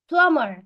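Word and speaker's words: plumber: ميكانيكي بايب بايب ماسوره بمر حرف البي هنا مش بيتنطق يا حبيبي بلامر بمر با درايفر يعني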